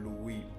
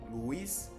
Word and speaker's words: Louis: as the angle of Louis. I understand we English speakers might call it Louis, angle of Louis, but I believe the correct French pronunciation is Louis.